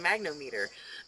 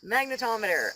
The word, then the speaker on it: magnetometer: or something magnetometer yes not a magnometer magnetometer uh in your phone